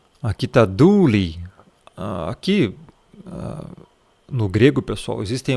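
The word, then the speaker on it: δοῦλοι: Ninguém pronuncia essa palavra douloi, tá? Esse aqui é douli. Você não fala esse ômicron que está aqui, e aqui, como tem um ômicron e um y, você fala du, tá? Douli. Você não vai falar o douloi, não existe isso, não é loi no final, tá, pessoal? A pronúncia mesmo do grego é douli, tá?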